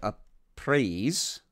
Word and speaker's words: Apries: new pharaoh of Egypt, a guy by the name of Apries, let me see if I can spell it for you, A-P-R-I-E-S is the anglicized version of that.